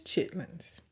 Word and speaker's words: chitterlings: like to share is chitlins I know it's spelled chitterlings but according to the Webster dictionary it is pronounced just as we say it from the south I love that so